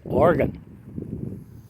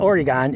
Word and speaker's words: Oregon: me the correct pronunciation is also the chronic pronunciation you get from anyone who lives in this state it's organ it's not oregon it's oregon but anyway the valley is the